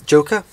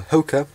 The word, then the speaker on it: Joker: So this is a Joker, or Hoka, if you pronounce it in the Spanish way, because J is pronounced a H.